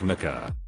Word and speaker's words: Micaiah: It's pronounced like Micah, but the kid's going